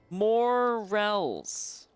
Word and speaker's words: morels: Morels. I mean, that's what it looks like. Rels. R-E-L-L-S. Rels. Rel? Yeah, morels. It's like morals, except morels.